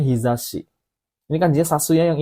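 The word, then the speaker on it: 日差し: Ini bacanya hizashi.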